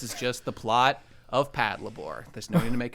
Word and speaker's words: Patlabor: It's just funny because I started saying it Pat labor, and people were like, "Oh, are you sure that's the right way to say it?" And I'm like, "The answer is yes.